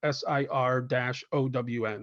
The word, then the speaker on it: Cerrone: I would write in parentheses like SIR-OWN.